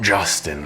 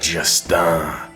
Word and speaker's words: Justin: To feel what I feel, you must pronounce it in French. Not Justin like Justin Bieber, but Justin, so that it sounds like je t'aime, and that's how it is meant.